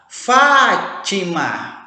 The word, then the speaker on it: Fátima: Fátima. Opa, a tonicidade da Fátima está na proparoxítona.